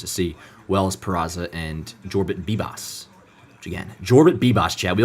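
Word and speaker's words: Jorbit Vivas: I was saying Jorbit Vivos. It's you pronounce the J in the first name. Jorbit and then it's BB boss like B- A Jorbit Boss.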